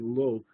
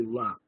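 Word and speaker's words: לא: In the Yeshiva world, many people are saying lo when they read Talmudic texts as well, but it really should be la.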